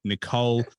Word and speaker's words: Nichol: and the only Nicole um I I was like do I pronounce it nickel or Nicole and and that's you got it right I got it right